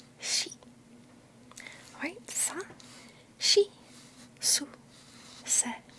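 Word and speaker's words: し: So we have sa, and as you'll see here, if you remember from katakana, we don't have si, we have shi. Alright, sa, shi, su, se, and so. Sa, shi, su, se, and so.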